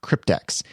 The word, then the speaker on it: CryptX: prevent spam is using the Crypt X plugin cryptex now that is c-r-y-p-t-x there's another one out there that is spelled EX at the end that's not the